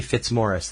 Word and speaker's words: Fitzmaurice: is diagnosed with ALS if it's Irish it's probably fitzmorris than it's more it's